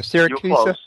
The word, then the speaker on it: Siracusa: horsefly Chronicles with is that pronounced syracusa uh syracusa yeah syracusa and um Carissa Fleck